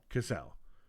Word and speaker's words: Cassell: Cassell. Yeah. We're hoping that's a pronunciation.